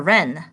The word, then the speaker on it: wren: W is for wren. The wren wrapped the rabbit's gift in red but forgot to write a note. So some words with a sound W is often with the letter R.